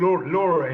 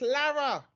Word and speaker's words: Lara: You see, I don't call you Laura anymore. No, it's still ain't pronounced. It's Lara.